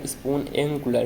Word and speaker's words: Spoonacular: And simply एक आपको website यहाँ पे लिखना पड़ेगा स्पून एंगुलर, ठीक है। देखो भाई सही होगा प्रोनाउंसिएशन।